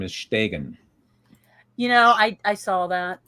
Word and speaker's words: Stegen: in the chat to pronounce his last name is Stegen.